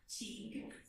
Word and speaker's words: Teague: Pronounce that for me. Teague.